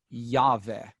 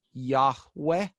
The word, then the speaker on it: Yahweh: But yes, so the proper name of God in the Old Testament is Yahweh. And that is what I believe is the correct pronunciation. It is sometimes also pronounced Yahweh, like a hard H and a W sound rather than a V sound.